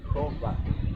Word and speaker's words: Jehová: Yo creo que la pronunciación más correcta es incluso como lo hacen en inglés, Jehová. Es la pronunciación, a mi parecer, más correcta. Porque, bueno, algunos dirán, pues, es Yahweh. Ok, esta tampoco quedaría porque de hecho la W la pronuncian como B los judíos.